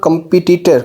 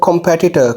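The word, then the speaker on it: competitor: Number 6 पे देख लेते हैं जी, wrong pronunciation कंपटीटर। कंपटीटर wrong pronunciation है कॉम्पेटिटर। कॉम्पेटिटर एज per British and American both are agree that it's कॉम्पेटिटर, इट्स नॉट कंपटीटर, इट्स कॉम्पेटिटर कॉम्पेटिटर।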